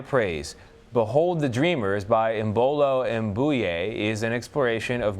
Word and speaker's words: Imbolo: You're saying it wrong. So, Imbolo. That is right. Imbolo.